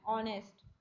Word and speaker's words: honest: Begin with the consonant H but H is silent, so we write an R and an honest, ठीक है।